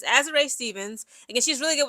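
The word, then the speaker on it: Azurá: Now, for the LA Sparks, I want to say Azora so bad, but it's Azer. That's how everybody pronounces her name.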